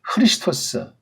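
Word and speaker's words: Χριστός: 이에수스라고 읽어야 됩니다. 그 다음 이걸 그리스도가 아니죠. 크리스토스.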